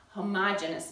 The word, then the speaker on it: homogeneous: First, A is a homogeneous mixture. Now, you may have also heard this pronounced homogeneous mixture, and you can say either one, but the book spells it out as homogeneous, and because I am